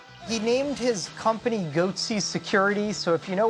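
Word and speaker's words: Goatse: They're called Goatsy Security. Is that my pronouncing that correctly? Yeah, that's right.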